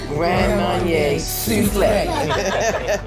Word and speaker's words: Grand Marnier Soufflé: Grand Marnier Soufflé.